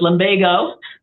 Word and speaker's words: lumbago: lumbago into uh online to see how to pronounce it I wasn't sure if it was lomago or lomago so it's lomago medical term to describe low back pain in